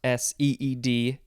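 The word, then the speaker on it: cede: us next is seed it is not s-e-e-d it is c-e-d-e seed this is a verb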